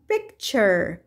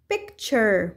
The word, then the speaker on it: picture: أيضا هناك كلمات تنتهي ب T U R E وتلفظ شر شر، مثل كلمة picture picture وتعني الصورة، future future وتعني المستقبل.